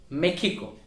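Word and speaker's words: México: So in English we call Mexico, but Mexico is a Spanish speaking country. Main official language is Spanish, but also there are other indigenous languages, but in Spanish Mexican pronounce it as Mexico. Mexico.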